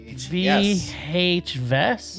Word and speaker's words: VHYes: VHYes. No, Yes, it's yes. like VHS, but with yes.